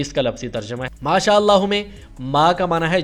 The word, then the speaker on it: ما شاء اللہ: اور دوسرا ہے انشاءاللہ۔ اس کا تلفظ ذرا سمجھ لیں، ما الگ لفظ ہے، شاء الگ لفظ ہے اور اللہ الگ لفظ ہے۔ ایسے ہی ان الگ لفظ ہے، شاء الگ لفظ ہے اور اللہ الگ لفظ ہے۔ انشاء اللہ اور ما شاء اللہ یہ اس کا صحیح تلفظ ہے۔ بچوں کو یہ تلفظ